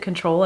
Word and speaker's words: CTRL: But this is in the shade CTRL, or I pronounce it control.